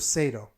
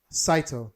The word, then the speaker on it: Saito: really quick is the character of Sato I believe I'm saying it right right so I don't think Saito thank you I apologize for our